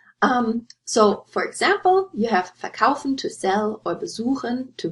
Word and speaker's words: verkaufen: So, for example, you have verkaufen to sell or besuchen to visit, and I underlined the word stress here, so you wouldn't say verkaufen or besuchen, you would say verkaufen and besuchen.